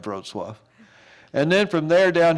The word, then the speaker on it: Wrocław: It's pronounced Wrocław. Doesn't look like Wrocław.